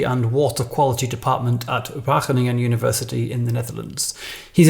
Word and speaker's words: Wageningen: was my pronunciation of wageningen uh it's it's it's good yes so talking with english people i would mostly myself switch to wagoning oh really okay but